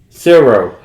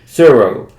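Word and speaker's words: Tsuro: Suro. You want to pronounce the T. T. I want to pronounce the T. Suro. Which is spelled T-S-U-R-O. Yeah, T is silent. The T is silent.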